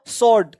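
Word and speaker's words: sword: देख रहे हो स्वॉर्ड, शॉर्ट का मतलब तलवार, स्वॉर्ड बोलते हैं, स्वॉर्ड नहीं बोलते।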